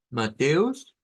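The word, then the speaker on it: Matthäus: una una a con diéresis esa normalmente eh la podemos sacar como una e abierta un poco más redonda que la que la e mateus mateus sería Entonces el nombre Mateo en eh con pronunciación alemana en deutch luego el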